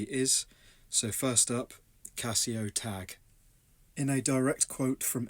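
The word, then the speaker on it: Tagge: So, Cassio Tag, and that is how you pronounce it. It's not Targee or Tage, as I've seen him referred to by others in the LEGO Star Wars creator community.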